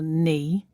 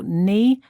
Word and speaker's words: knee: We don't usually say the K in words that begin with K-N. For example, knee, the joint between your upper and lower leg, and knife, the tool we use to cut things. So knee and knife start with silent K.